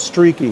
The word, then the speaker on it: Streaky: It's spelled just how it sounds, Streaky.